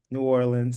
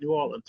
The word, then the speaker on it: New Orleans: New Orleans. You were right, New Orleans.